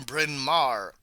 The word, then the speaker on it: Bryn Mawr: Lord I have to look up how to pronounce that okay she graduated from Bryn Mawr that's an all women College in Pennsylvania the